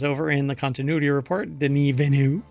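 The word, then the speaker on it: Denis Villeneuve: there's an entire phrase here that's missing director Den venu that is apparently how you pronounce his name or he pronounces his name or you're supposed to pronounce his name not Dennis Villano didn't evenu um believes Blade Runner 2049 could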